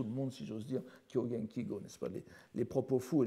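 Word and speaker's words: 狂言綺語: veut montrer que l'on est au courant, on prononce Kyogen Kigyo, mais la prononciation, je vous encourage à prononcer comme tout le monde, si j'ose dire, Kyogen Kigo, n'est-ce pas, les propos fous et les paroles spécieuses.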